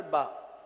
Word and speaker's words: با: الف ہی پڑھیں گے۔ اگلا حرف ہے با، پہلے آپ ادائیگی سن لیجیے، با با با۔ پیارے میٹھے اسلامی بھائیوں،